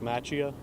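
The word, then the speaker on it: Macchia: Can you say your name and spell it for us? I'm a trooper Matchia.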